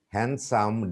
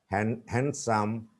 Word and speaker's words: handsome: Adjective, adjacent, adjust, arms, balm, calm, half, salmon, blue, crew, drew, grew, cover, discover, front, stomach, digestion, suggestion, future, procedure, handsome, D is not pronounced, handsome, handkerchief, knee, no, knowledge, vision, mission.